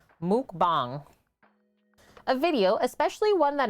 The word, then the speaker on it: mukbang: food eating show and it's actually pronounced like Muk bomb mukbang a video especially one